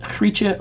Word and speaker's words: Grietje: My Dutch friends tell me it's pronounced Hrietje Bars, more or less.